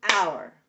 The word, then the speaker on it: hour: what is your question if it's one syllable instead of our going to be r that is a really good point You're right our probably would would be look like this ow ER right two syllables out or that's not what I'm spelling I'm saying hour hour one one syllable our our our our